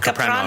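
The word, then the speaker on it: Kapranos: I know that you recorded with Alex, I'm going to mispronounce his last name, Capranos.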